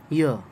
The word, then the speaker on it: year: इसे ईयर नहीं पढ़ते, ई साउंड से इसका प्रोनाउंसिएशन शुरू नहीं होता है, बल्कि य साउंड से शुरू होता है, य र ल व, तो य से ईयर पढ़ते हैं, ईयर नहीं पढ़ते, ईयर, राइट। आप इसके एडजेक्टिव आसानी से